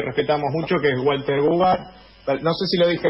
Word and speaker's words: Goobar: No, lo pronunciaste bien, Gubar.